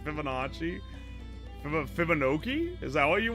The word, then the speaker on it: Fibonacci: So, so saying Fibonkoki like it rhymes with chibi is wild. Fibonacci If I had some eccentric ass accent, you guys would be like, "OMG, he's so beautiful."